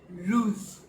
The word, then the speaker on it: rouge: How do we pronounce it in French? So we call red rouge.